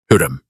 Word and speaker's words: Hürrem: HÜRREM. 2 syllables. The first one like a breath. The second one like a question.